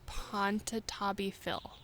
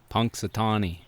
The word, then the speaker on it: Punxsutawney: I told you about, which is he's like Ponchatabi Phil. Ponsanabi Phil. Okay, how do you say it? Ponchatabi Phil? Punxsutawney.